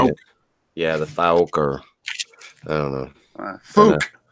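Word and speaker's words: Fouke: Yeah, the Thauk, or I don't know. Fook. You got to say it like Conor McGregor, the fighter. Who the fuck is that guy? You got to say Fook.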